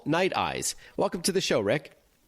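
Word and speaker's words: Nite Ize: about night eyes and i just want to clarify to our audience that night eyes is spelled n-i-t-e-i-z-e tell us about the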